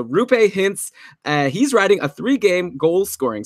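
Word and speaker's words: Roope Hintz: pronounce his name but apparently through pay just like Lupe the cleaning lady who George hooked up with on Seinfeld is a rooh pay hints he's riding a three-game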